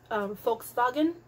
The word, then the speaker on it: Volkswagen: um it's actually pronounced volkswagen um the letter v is pronounced um the letter w is pronounced like a v and the letter v